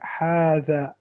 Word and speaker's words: هذا: So هذا here, if we zoom in, if you see that this alif, small alif there, it's actually showing that you pronounce it هذا.